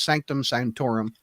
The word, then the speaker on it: Sanctum Sanctorum: We think they're in Doctor Strange's Sanctum Sanctorum.